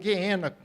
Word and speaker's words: Geena: O outro é Geena, ou Geena, que seria a pronúncia correta, que vem do hebraico,